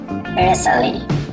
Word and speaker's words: bristly: When T is between S and LE or LI or LY in the same syllable, it is usually silent, as in Bristly, Bristly, Bristlier, Bristlier, Bustling,